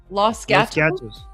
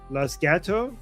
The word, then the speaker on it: Los Gatos: How do you pronounce this? Los Gatos. Los Gatos.